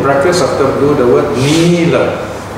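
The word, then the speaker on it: nīla: It is important to put in brackets after blue the word nila. N-I with a macron over the I, long I sound, nila.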